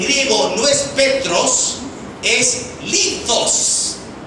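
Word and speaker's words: λίθος: No, la palabra para piedrita en griego no es Petros, es litos. Litos, para pronunciarlo como en latín.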